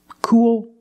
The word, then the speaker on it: cool: are all the same cool pool tul and fool you see the same spelling double o plus L and the same pronunciation it's the long ooh sound plus the dark L cool pool tool